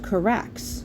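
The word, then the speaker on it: χάραξ: This word is pronounced charax, right there.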